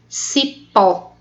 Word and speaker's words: cipó: Cipó, o pó é a última sílaba.